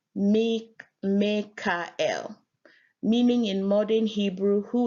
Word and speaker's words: Mikael: Mikael, pronounced Mekael, meaning in modern Hebrew, who is like God.